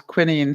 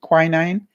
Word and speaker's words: quinine: however you pronounce it in England we pronounced it as Quinn Ian so I don't know maybe Americans pronounce it quinine because they seemed to